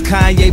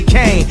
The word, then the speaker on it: Kanye: lane now all i need is y'all to pronounce my name it's kanye but some of my plastics still say kane cat family and a d can vote for